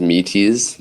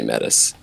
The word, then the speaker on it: Metis: uh so number one how how should people pronounce it I mean the most official way is metis it's the Greek goddess of wisdom Good Counsel and Prudence um but more often than not I just say Mattis all right so it yeah so whatever whatever